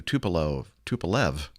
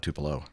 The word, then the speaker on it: Tupolev: An Aviastar TU Tupolev, not Tupelo, that's in Mississippi, Tupolev, TU-204 registration Romeo Alpha 64032, performing freight flight 6534 from Hangzhou, China.